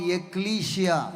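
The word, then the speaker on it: ekklesia: A word called एक्लीशिया।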